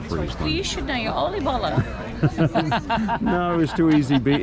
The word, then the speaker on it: oliebollen: They're getting tempura mushrooms and oliebollen, I think. Oliebollen is the Dutch pronunciation. It's called they're like a Dutch donut. Again? Oliebollen. Oliebollen?